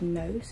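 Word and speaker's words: Gnoce: It's called, I think you pronounce it like Gnose. It says G-N-O-C-E.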